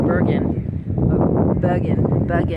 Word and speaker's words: Bergen: I actually flew into Bergen, that's how they say it in Norway.